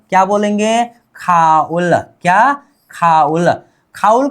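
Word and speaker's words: 가을: अब इसको बोलेंगे खाउल। क्या बोलेंगे? खाउल।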